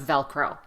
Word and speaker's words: Velcro: practice the pronunciation of Velcro the first syllable is the strong syllable so stress that syllable a lot velcro we also have